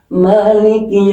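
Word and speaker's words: مَالِكِ: Ada yang e maliki yaumiddin ma ada yang pendek ada yang panjang. Ini mananya panjang. Kalau yang malikinas itu mananya pendek.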